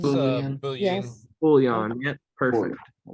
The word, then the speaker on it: Boolean: It's Boolean. Boolean. Yes. Boolean, yep, perfect. All right. Boolean's got two O's, and then bool. So basically, boo like boo, and then lean is how it's spelled, Lean.